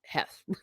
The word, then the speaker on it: Heth: there he is there's Heth I think pronounced Hess his people got into